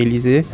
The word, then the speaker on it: Élysée: Et pour moi c'est très important parce que la pâtisserie Élysée, déjà ça se prononce Élysée en allemand et en français.